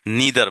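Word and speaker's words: neither: যেমন নেইদার একটা negative word, এখানে রেয়ারলি নেগেটিভ। আচ্ছা, নেইদার বলতে গিয়ে অনেকে আবার বলতে পারেন নিদার বলা হয়, আমেরিকান উচ্চারণে এটাকে নিদার বলা হয়।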